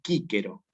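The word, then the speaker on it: Cicero: Se escribe Cícero, pero en latín clásico se pronuncia así como está escrito aquí, que es Quíquero.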